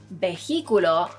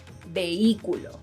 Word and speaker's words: vehículo: Another word is, if you're thinking of the pronunciation is vehículo, then I'm sorry to tell you, but you're wrong. The correct pronunciation is vehículo.